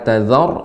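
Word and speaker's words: تذر: Tadi lebih dimantapkan lagi pengucapan ra, la tazar, ini memang tebal. La tazar alal tazar. Tazar tebal ya Pak Ustadz ya. Ya, tebal. Tazar, dan ra-nya juga sedikit, ya. Tazar. Nah, tidak tazar, enggak.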